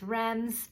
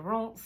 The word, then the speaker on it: Reims: You might know it as Reims, but it is pronounced closer to Reims.